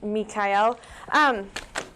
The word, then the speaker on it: Mikhail: It is pronounced Michael, Holly. Oh, sorry, Mikhail.